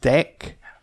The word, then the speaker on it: deque: It's pronounced deque, or it does look like deque, but that can be imported from collections.